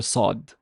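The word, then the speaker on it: صاد: in Saw saw saw actually the word saw if if you start building on top of the word saw you can actually reach the letter sod but you have to put more emphasis on the ah sound make it more back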